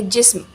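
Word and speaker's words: جسم: सही लफ्ज़ जिस्म होता है, हम जिस्म बोलते हैं, that is a wrong pronunciation. ये है जिस्म।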